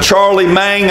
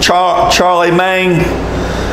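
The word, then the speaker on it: Charlemagne: empire which started and i may not be pronouncing his name but charlie mang i think is the way you pronounce it charlie mang in ad 800 to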